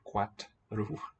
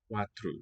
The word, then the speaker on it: quatro: 3, 4, Nice and long first syllable. 4, So I think the T belongs to the second syllable, not to the first. Not quatru, but quatru. 4, Os 4 homens bebem leite.